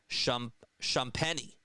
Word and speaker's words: Champagnie: Oddly enough, Champagne's name is pronounced Champagnie. Champagnie? Is that how you say it? Champagnie? Thanks for letting me know. Thanks so much for telling me. Champagnie. I think that's how you say it, right? It's like Shams, Shams, and then Shaq and Penny, right?